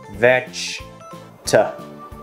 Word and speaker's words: vegetable: Thực ra từ này chỉ có 3 âm tiết thôi, đọc là vegetable. Vegetable.